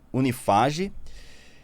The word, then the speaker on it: Unifaj: E nos cursos de medicina do grupo Unieduc, que é Unimax e Unifaj, é isso assim que se pronuncia? Unifage. Unifage, mediador privado, sócio da AGR Sistema de Solução